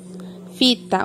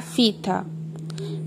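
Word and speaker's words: phyta: No filo, fita, o PH, a pronúncia é como se fosse o F. Então, na terminação do filo, será fita.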